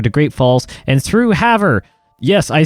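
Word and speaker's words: Havre: how I say however I called it have Ray have rare or whatever you call it Haver is apparently how you say it now again correct me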